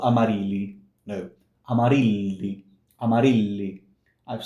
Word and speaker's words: Amarilli: So, Amarilli, Amarilli. When you see two L's in Italian, one next to each other, sorry, one next to two L's in a row, I'm sorry, it's a long sound.